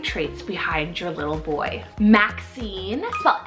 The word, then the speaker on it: Maxine: it's really great traits behind your little boy Maxine well m-a-x-i-n-e Maxine this is a wonderful so underrated vintage